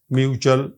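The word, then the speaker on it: mutual: हो और एल आ आप देखें म्यूचुअल अब यहां पर आर नहीं है ए है और एल जदा फिर ये चा की बात च की बात दे रहा है म्यूचुअल वर्चुअल और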